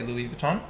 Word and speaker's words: Louis Vuitton: yeah louis vuitton yes so i pronounce it louis vuitton because you know and i think people know louis vuitton like when you say louie the time yeah well that's what